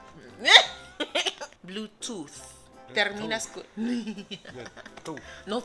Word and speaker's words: Bluetooth: Bluetooth. ¿Cómo? Bluetooth. Cuando ves un TH en inglés, tienes que pronunciarlo. Tienes que sacar tu lengua de tu boca, así, entre tus dientes. Bluetooth.